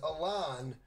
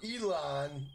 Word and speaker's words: Elon: my man elon musk i used to call him ellen musk but a lot of people say his name is elon or elon or whatever the hell his name is but i know it's not ellen so um are you